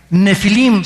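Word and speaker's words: Nephilim: La palabra gigantes, apúntalo, en el hebreo es la palabra nepilim, con PH intermedia. Nefilim se pronuncia.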